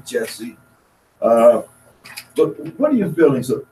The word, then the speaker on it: Jussie: Jussie is Jussie. I hope I'm pronouncing it correctly. Jussie, I've heard some say Jesse.